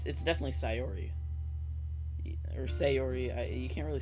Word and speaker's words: Sayori: Okay, it's Sayori.